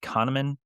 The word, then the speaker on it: Kahneman: It's by Daniel, I think it's pronounced Kahneman, but it discusses how